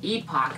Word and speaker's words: Epoch: Sylvanian Families were started by a company in Japan called Epoch, I think is how you pronounce it.